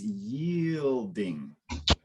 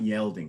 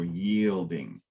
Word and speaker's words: yielding: was so very good that verb is yielding not yelling so yield yeah and so again when there's two two vowels together it's more likely that it'll be at a open sound so two vowels together so yielding all right so let